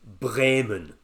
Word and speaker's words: Bremen: It's spelt sort of Bremen, but I'm trying to get the right Germanic pronunciation, so I'm going to say Bremen.